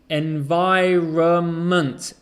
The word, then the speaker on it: environment: two was environment again there's a silent n environment don't say the n n by r months